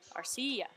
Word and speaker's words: Arcia: saying Arcia Orlando Arcia it's icy yeah the accent is on the I are CEO I don't know if